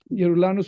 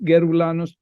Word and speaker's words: Yeroulanos: guy organizing the conference yanos is spelled with a y not a g yanos with a Y is pronounced yanos all over the world but yanos with a G is pronounced geranos geranos oranos depending on where you are the only benefit of